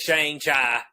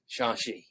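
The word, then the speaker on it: Shang-Chi: say it right okay it ain't shane chai even though that's what it says it's shanxi so um so yeah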